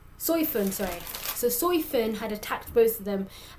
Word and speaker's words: Soi Fon: that how you say her name sorry so soy Finn had attacked both of them um basically calling